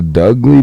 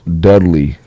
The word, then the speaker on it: Dudley: douly boys rakhi the Dougley boys yeah you don't remember Doug oh dougle Brothers Dudley oh did I not say it right my bad yeah is it Dudley Dudley you remember the younger